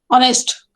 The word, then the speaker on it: honest: Honest, H is silent.